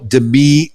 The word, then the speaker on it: Demi: You are somebody special, Demi Michelle Schwartz. And thanks for the correction on your pronunciation of your name. That's right. I put the wrong emphasis on the wrong syllable. It's not Demi, it's Demi.